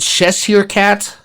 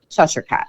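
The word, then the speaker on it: Cheshire cat: Is it chessier cat? Cheshure cat.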